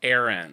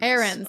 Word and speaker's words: Aarons: His last name is pronounced Aarons. Aarons.